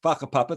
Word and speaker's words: whakapapa: It's spelt wakapapa, but WH in Maori apparently is pronounced with an F. So it's whakapapa, though that sounds slightly rude.